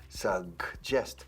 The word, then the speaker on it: suggest: I suggested, suggest. La primera G de suggest es casi como una K suave. Y luego la segunda G de suggest es casi como una Ch.